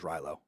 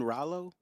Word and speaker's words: Rallo: I can't remember the my favorite character was rylo rylo I mean Rallo yeah rylo oh you say I thought you